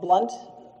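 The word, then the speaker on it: Blount: it in you yes it is blunt is spelled b l o u n t okay and um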